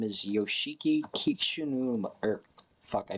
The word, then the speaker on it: Yoshiki Kishinuma: And the guy's name is Yoshiki Kishinuma, or fuck, I butchered that trying to pronounce it. Yoshiki Kishinuma.